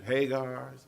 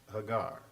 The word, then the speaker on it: Hagar: character by the name of Hagar some people pronounce it Hagar same person and it's really pronounced Hagar an Egyptian slave girl that was assumed during